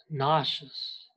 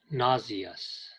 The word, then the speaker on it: nauseous: nauseous. You should know that the British, 英国人, pronounce it nauseous. In America, it's pronounced nauseous.